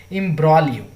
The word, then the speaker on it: imbroglio: और इस वर्ड का IMBROGLIO, इस वर्ड का करेक्ट प्रोनाउंसिएशन बहुत ज़रूरी है। जी यहाँ पे साइलेंट है, तो इसको पढ़ेंगे इम्ब्रॉलियो।